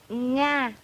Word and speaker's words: Nga: My name is Nga, but you pronounce it Na. It's so different.